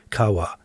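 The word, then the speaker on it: qahwa: Some commentators will express the word as simply kawa. As far as I can tell, and I could be wrong, the primary pronunciation is something like ca, though I think it tends to be shortened over time. And the variance can be explained as dialects.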